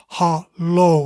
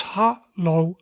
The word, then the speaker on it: hallo: We already looked at it, but that is hallo, right? Two syllables, hallo, hello, hello.